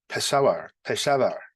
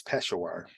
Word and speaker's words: Peshawar: Now, there was an explosion in, I think they pronounce it Peshawar. I always thought it was Peshawar.